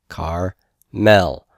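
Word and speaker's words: כרמל: a silent Shiva and this is going to be pronounced car no Shiva sound car Mel car Mel all right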